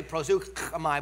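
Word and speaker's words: προσεύχομαι: It's really prosukamai, but I can't say it. Some of you who come out of dialects where you can phlegm better than I can say that appropriately. I can say it like pastor, prosukamai, or whatever. I can't say it like him either, right?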